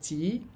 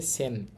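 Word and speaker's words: 千: এটার নাম কি দেখেন এইটার কুনিয়মী বা জাপানিজ উচ্চারণ হচ্ছে চি আর অনিয়মী। তিনা উচ্চারণ হচ্ছে সেন।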